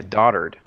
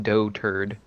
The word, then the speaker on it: dotard: next five of ten is it dotard yeah daughter'd oh no it's dotard you're right it's pronounced dotard as in from the dear 35,000 increasing lookups